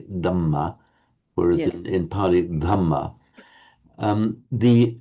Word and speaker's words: Dhamma: So what you were clearly doing there, you were correctly giving it the aspiration, because in Burmese you say Dhamma, whereas in Pali, Dhamma.